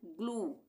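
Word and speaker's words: glue: ये है जी एल यू ई। Last में यू ई आ गया। तो यहां पे हम इसको क्या पढ़ रहे हैं? ग्लू। ल तो एल के लिए आ रहा है। बाकी उ यू के लिए आ रहा है। यू ई के लिए यू ई एक साथ है तो ग्लू।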